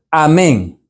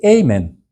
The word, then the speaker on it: Amén: al principio entonces en en el idioma hebreo hay muchas palabras igual que en español que terminan en acento al final y si no se dicen como va por ejemplo Amén saben que esas palabras debe decirse así en todos los idiomas pero para los americanos le cuesta porque dice amen no puede decir amén